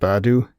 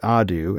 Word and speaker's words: ADU: "What's up, Adu?" The human, Janish, the one who was on watch at this time, pronounced it Adu instead of the proper pronunciation of ADU.